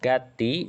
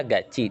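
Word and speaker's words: 같이: Jadi untuk gati dibacanya gaci dengan aturan dia itu bukan partikel.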